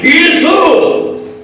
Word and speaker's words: ஈசு: Original இயேசு கிறிஸ்துவின் பெயரை ஒழுங்கா உச்சரிக்கிறது எப்படின்னு கேட்டீங்கன்னா, ஈசு.